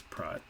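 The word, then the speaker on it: Praat: r a a t it's dutch which is why it's prod not it's not just me pronouncing things in a stupid way so click on this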